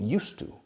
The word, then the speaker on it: used to: And the pronunciation is like el monasterio de Yuste. Cambiando la E al final con U, used to.